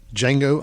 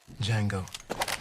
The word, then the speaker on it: Django: Django. D J A N G O. The D is silent.